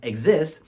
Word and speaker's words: Xist: as x i s pronounced as exist coal around the chromosome